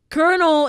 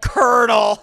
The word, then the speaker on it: colonel: know that right like colonel is not spelled the way a pronoun like colonel like i like how